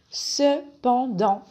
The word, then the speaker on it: cependant: beaucoup d'entreprises numéro 7 cependant est un connecteur d'opposition la prononciation se pend dans ce pan dans le pain et le dans a le même son nazal pan dans cependant est